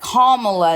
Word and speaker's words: Kamala: It's like Kamala. It's like I don't know. It's kind of like Pamela, but it's an O.